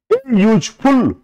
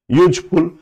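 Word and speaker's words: useful: आ रहा एन लगा यूजफुल तो देखो यू है यू भवेल है लेकिन इसके बावजूद इसका उच्चारण चूंकि य से हो रहा है यूजफुल इसीलिए इसके पहले ए लगाया मैंने एक्सीडेंट एन लगा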